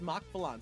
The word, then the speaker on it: MachValan: yeah so U yeah my name is pronounced Mach Balon so mock like the speed uh and then Von like think like Avalanche but like with a an accent so it's emphasis on a different salel so yeah I I